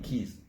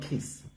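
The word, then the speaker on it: quays: Not that key, keys. Keys. No, not kiss. Keys. Now Q-U-A-Y-S. Q-U-A-Y-S. That's keys.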